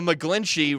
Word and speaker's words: McGlinchey: when the McGlinchey rhymes with McFlinchy, it's just a thing.